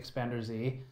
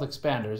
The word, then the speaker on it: Expanders: I refuse to say Expander Z. It's spelled Expanders, and that's what we're going to go with.